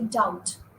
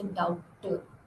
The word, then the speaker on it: doubt: Then you say doubt. You don't say doubter.